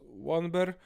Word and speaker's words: Wandersborough: Beyond that, major cities are Wandersborough, pronounced Wanber, the Sailor City, a major port and home to many sailors, and Cardigan, home of the rich and powerful Garloy family.